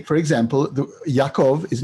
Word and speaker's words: Yaakov: But this is why Yaakov in Ashkenazi, deep Ashkenazi pronunciation is Yankov.